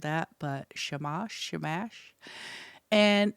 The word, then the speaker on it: Shamash: At sunrise, you speak words of a ritual that calls on the Mesopotamian god Sheamash. I know I butchered that, but Shamash Shamash and it's his job to take the ghost to the underworld.